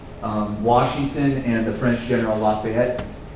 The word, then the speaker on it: Lafayette: Washington and the French general Lafayette, or in French it's Lafitte, but Lafayette, they surround Yorktown, and